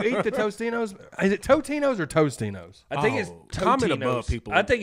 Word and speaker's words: Totino's: I've always called it Tostinos. I have too. This may be one of those Mandela effects. No, as well. It's a Mandela. AK. It's the Mandalorian. I think effect. It's Totinos. Saying it wrong.